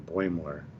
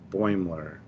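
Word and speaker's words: Boimler: have why does everybody have so much trouble pronouncing boymore from katwowski to track central to you guys boymler i said it right when i said it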